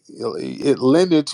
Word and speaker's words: lineage: Lineage rhymes with spinach.